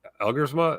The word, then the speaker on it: Elgersma: Yes, Elgersma.